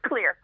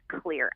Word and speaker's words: Xlear: It's XLEAR. Yep. Even though it has an X, it's pronounced as a C.